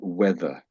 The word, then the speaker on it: weather: Um, some people do pronounce the th as a v, but not in this, not normally in this particular position, but so weather. We weather. So the th is sort of a sound.